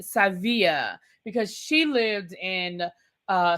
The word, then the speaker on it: Sevilla: The ladies are going on their cash trip to Savia as Alexia wanted to remind us that you know Americans pronounce it Seville but it's really Sevilla because she lived in uh Spain for five years.